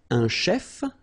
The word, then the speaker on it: chef: so let's see them Chef so remember C it will give you the sh sound a chef okay then a musician